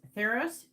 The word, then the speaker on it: Tharos: So the first guide that's coming through is Theros. His name is spelled Tharos.